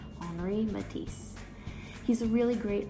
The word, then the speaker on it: Henri: you say that henry it's the same thing as the name henry but you're pronouncing it with a french accent henry matisse he's a really